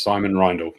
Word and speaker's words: Simon Reindl: Is that how I should pronounce your name? Yes, Simon Reindl. Simon Reindl.